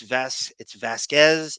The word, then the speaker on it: Vasquez: I thought Camille at some point would go, Miss Bredehoft, it's Vasquez, it's Vasquez.